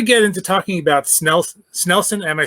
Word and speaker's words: Snelson: so before we get into talking about snel snelson am i saying that right you are you